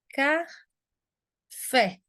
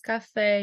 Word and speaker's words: café: Nós temos a palavra café. E a sílaba tônica, inclusive a sílaba acentuada, é o fé.